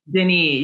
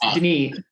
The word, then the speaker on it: Denis: amazing things about uh dennis did denise you said that you're pronouncing denise yeah french she's french-canadian so it's denise is his use of